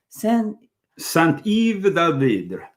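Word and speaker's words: Saint-Yves d'Alveydre: Saint-Yves d'Alvidre.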